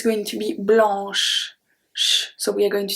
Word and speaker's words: blanc: So let's see the first one when the C at the end is preceded by N. In this case, it's not going to be pronounced. We have blanc, blanc, blanc.